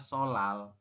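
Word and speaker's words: 설날: kan sol Nal teman-teman kita membacanya itu adalah solal seperti itu jadi ee dibacanya adalah solal se Seo l terus l a l seperti ini teman-teman ya kenapa kok dibacanya solal seperti ini karena di sini ada real di akhir ketemu dengan nion di atas ya begituun sebaliknya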